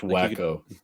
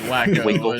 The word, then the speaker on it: Waco: or Brownsville um or even out to like Waco or something so still in like the Texas area Texas is huge pronounced wacko wacko wacky wacko it is wacko in Waco Texas test been there we did